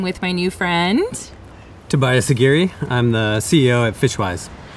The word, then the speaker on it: Aguirre: my new friend, Tobias Aguirre. I'm the CEO at Fishwise. I just pointed out to Tobias that his last name rhymes with Nuguri, which is crazy because he works in creating sustainable fisheries globally.